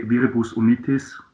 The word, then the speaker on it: Viribus Unitis: So I think everything is fine from Viribus Unitis to we say Viribus Unitis, the German pronunciation of it, but Yeah.